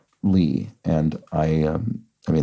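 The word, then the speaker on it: 李: character for Plum and on the third intonation that is pronounced Li and I am I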